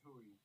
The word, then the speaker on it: Hooey: Is it Hooey? It's Hooey. It's actually funny. That name comes from a mispronunciation of my actual last name, which is Huey. So it's really either or.